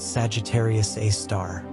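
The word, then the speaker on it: Sagittarius A*: The asterisk in its name is pronounced a star.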